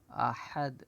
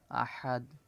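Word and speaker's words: أحد: কুল হু আল্লাহু আহাদ আহাদ হা এটা গলার ভিতর থেকে উচ্চারণ হবে আহাদ এটা ছোট হাজি হা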